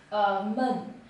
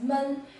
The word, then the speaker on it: 闷: The first is mun, which is depressed or to be stuffy. When it's pronounced as mun, it can mean either an adjective or a verb.